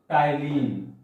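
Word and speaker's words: ptyalin: is called mucin, amylase, and third is called tannin. T-Y-A-L-I, T is silent here.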